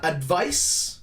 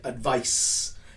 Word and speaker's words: advice: a different pronunciation uh advice right advice it's more of a soft c sound advise is more of